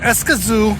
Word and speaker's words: Escazú: direction by the way escazu is pronounced with the stress on the last syllable and I'm having kind